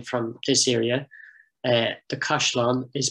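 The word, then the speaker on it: caisleán: another field name from this area uh the kashlan is pronounced the kushlan locally the question and we have i think three examples in field names of the word kashlon mean castle being pronounced cushlon now this is a feature of many dialects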